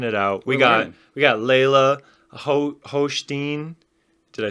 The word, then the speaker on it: Hochstine: We got Leylah Hochstine. Did I say it right? It's pronounced the same way as his. Hochstine.